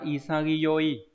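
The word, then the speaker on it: 潔: bài thì là từ đồng nghĩa từ này đọc là isagi mặc dù chữ Hán là chữ Khiết nhưng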